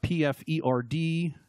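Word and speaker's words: Pferdestärke: a bit more clearly in German PF er D is how you say that there Farra de is horse horse and Straka is strength ARCA strength yeah so it's horse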